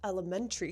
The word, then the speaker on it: elementary: It looks like elementary, but it's not pronounced that way. Well, you can say it that way, but most Americans will pronounce it like elementary. Tree school.